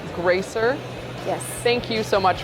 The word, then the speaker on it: Greicer: Pronounced Greicer.